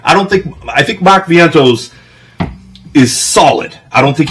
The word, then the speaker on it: Vientos: Vinitos? Mark Vientos.